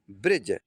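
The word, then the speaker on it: bridge: silent हो जाता तो इसे ब्रिज नहीं पढ़ेंगे इसे पढ़ेंगे ब्रिज अब देखिए आगे देख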